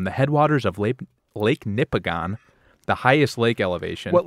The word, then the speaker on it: Nipigon: okay thank you Nippon it's like Michigan but nipples so this is the